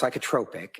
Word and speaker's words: psychotropic: It's pronounced psychotropic.